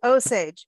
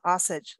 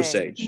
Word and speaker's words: Osage: And so you're saying Osage, and it's not Osage, like I've been saying. Osage.